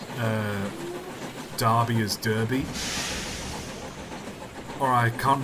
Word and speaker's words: Derby: on the stania 8fs and I think I pronounced uh Derby as Derby or I can't remember which video